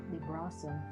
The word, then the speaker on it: Librasum: Librasum. Didn't realize there was an emphasis on the A.